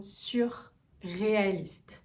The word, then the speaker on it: surréaliste: Et enfin, le dernier mot, c'est le mot surréaliste. Donc vous pouvez se séparer. Sur, U. Le U est vers l'avant et le R.